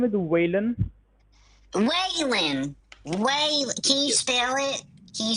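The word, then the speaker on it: Waylon: Uh, my name is Whan. Whan. Whan. Can you spell it?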